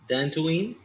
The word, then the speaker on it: Dantooine: You pronounced it right. Nazario, Dantooine.